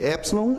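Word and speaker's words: ἒ ψιλόν: A pronúncia de epsilon é o E aberto, como em até.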